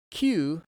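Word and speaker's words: 九: Q in Katakana and the number nine is pronounced Q in Japanese so basically this is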